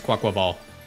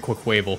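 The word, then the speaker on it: Quaquaval: me in Pokemon is I know how to pronounce quack quaval all you dudes calling it quick wavel what's wrong with you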